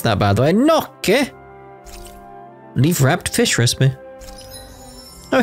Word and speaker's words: gnocchi: Gnocchi? Gnocchi recipe? That's how you pronounce that, by the way. Gnocchi?